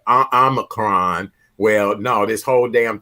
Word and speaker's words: Omicron: Omicron.